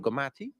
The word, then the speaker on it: Gomathi: And right now, I got to meet and start talking to Gomathi.